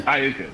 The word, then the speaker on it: Iuka: over over by pwi yeah I Mississippi yeah Iuka that's it okay so we would I'd meet